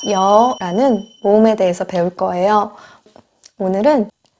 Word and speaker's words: 여: 야채 잘 했습니다 다음 딴 오는 녀 입니다 여 도 없 아름 하기 전에 의미를 먼저 하시면